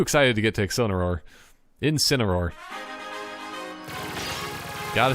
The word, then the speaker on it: Incineroar: Incineroar.